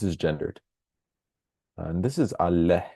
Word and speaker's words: አለህ: And this is አለህ. There's an H here actually, so keep that in mind. So do you have food would be ምግብ አለህ. Notice the h sound at the end.